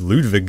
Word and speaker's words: Ludwig: get on to this Ludwig guy we have to pronounce these W's as V's it's a lot of